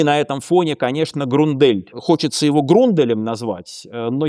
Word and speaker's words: Grundell: На самом деле он Грундель, Даниэль Грундель, правильно его произносить.